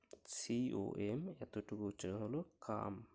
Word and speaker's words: come: COME কাম মানে আশা। COME শেষে ই আছে, COM এতটুকু উচ্চারণ হলো কাম।